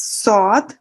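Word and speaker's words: ص: And this is sod, and this is a heavy sound, thick sound, you said, and we have to raise the tongue towards the palate to pronounce this sound.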